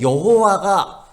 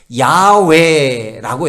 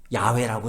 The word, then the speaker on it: 야훼: 근데 여호와가 정확히 여호와가 아니에요. 야훼라고 해요.